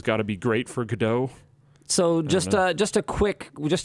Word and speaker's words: Godot: people have made I always forget how to pronounce it how do you say it Dan what go dot Godot Godot okay sure um some people have